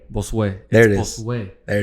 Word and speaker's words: Bosue: not boss. Cause I've been saying it Bosue. No, but it's like boss way. Bosue.